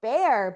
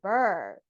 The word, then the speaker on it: Ber: pronounce her name, because you would think it was like Bernice or Bear, but it's not. It's Ber. Correct? Ber? Correct. It's like Ber.